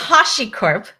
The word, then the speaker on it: HashiCorp: It is HashiCorp. Okay. Uh Hashi HashiCorp cuz yeah, it's from the Japanese word.